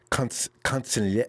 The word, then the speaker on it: consigliere: He's like Kyle's consigliere. How do you pronounce that?